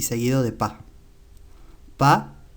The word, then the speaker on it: pas: Pas se escribe con S al final, aunque no se pronuncia.